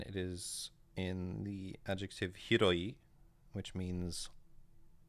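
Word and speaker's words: 広い: This one is Hiro, and it is in the adjective hiroi, which means like large or vast.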